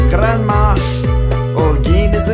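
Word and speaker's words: Holguín: name is just as you saw if you pronounce it correctly it sounds like grandma oh geen is the name of the province you are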